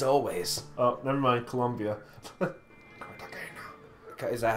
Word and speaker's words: Cartagena: Cartagena. Is that how you pronounce it? Cartagena.